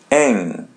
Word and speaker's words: em: Ang. So the letter m is pronounced as a light n.